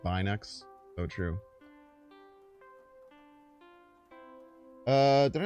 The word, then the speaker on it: Binx: It's actually pronounced Binex.